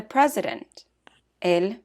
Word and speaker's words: presidente: For example, the president, el presidente. Important becomes importante. Side note, words that end in ENT or ANT are accented on the next to the last syllable. For example, presidente.